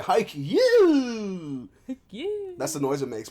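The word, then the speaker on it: Haikyu: might be pronounced that it's spelled H AI kyu you know so haiku yeah it's about yea high Q that's the noise it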